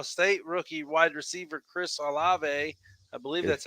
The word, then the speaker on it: Olave: Your buddy or your favorite school from Ohio State rookie wide receiver Chris Olave, I believe that's how you say his name. Yep, Olave.